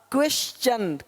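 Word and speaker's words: question: देखो यहां पे टी का क्या होगा? च क्वेश्चन क्वेश्चन।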